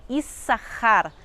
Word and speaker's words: Issachar: Leia, que se chama Issachar, ou como a gente pronuncia o nome dele hoje em dia, mas no hebraico bíblico a pronúncia correta é Issachar.